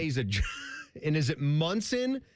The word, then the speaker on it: Monson: and I think his it looked like Monson, but it was Munson, which was how you pronoun- pronounced it.